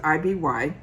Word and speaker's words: IBY: they stand for, and they pronounce it IBY.